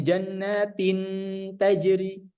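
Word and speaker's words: جَنَّاتٍ تَجْرِي: Jadi cara bacanya tadi huruf nun atau tanwinnya dia tidak dileburkan tapi disamar-samarkan. Jadi bukan bacanya jannatin tin. Ya, dia harus ada samar-samar.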